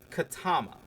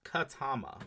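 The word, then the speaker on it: Ketema: It's Katama. Okay. Doesn't look like that's how it's uh spelled. It's K E T E M A but it's pronounced Katama.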